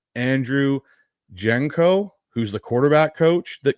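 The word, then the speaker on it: Janocko: So, fortunately, the Saints website still has those guys up, and they broke they gave the pronunciation, the phonetics. It's Janoko.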